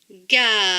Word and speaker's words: galerie: La lettre E dans ce mot-ci ne se prononce pas. Donc, cela donne pour ce mot-ci galerie, galerie, galerie.